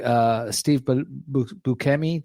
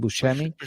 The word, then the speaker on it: Buscemi: It's with Nick Thompson, Steve Buscemi. That I don't know how to pronounce his name. Buscemi, I think.